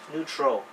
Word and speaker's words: neutral: the two letter combinations eu sounds you so a word neutral neutral okay ng ng the